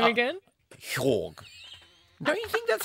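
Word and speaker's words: Joerg: Hwag. Whack. Whack. Whack. I've got to get my pronunciations ready for Eurovision. I'm going with a soft J, like an H.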